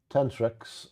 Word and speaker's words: tenrec: The Tentrus. Is that how you pronounce it? I don't know. How will you pronounce it? Tenrec. Tenrecs? Tenrecs? Tenrecs. Yeah, I'll go with your way.